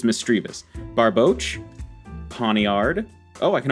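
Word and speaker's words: Misdreavus: sorry energy lotto we got over quill sneezel mistrevus mistrevious mistrivas mistrivas it's mistreavus barboche pontiard oh i can already see we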